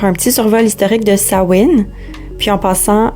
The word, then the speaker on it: Samhain: petit survol historique de Samhain. Puis en passant, dans les langues gaéliques, le MH est souvent prononcé comme un W, donc c'est bien Samhain et non Samhain.